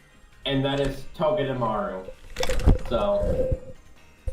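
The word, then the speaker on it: Togedemaru: clone, is mostly because I love how to pronounce its name, and that is Toge Dearu.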